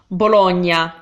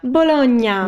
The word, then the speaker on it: Bologna: here so let's check the next one is Bologna Bologna not that's a food item that thing know which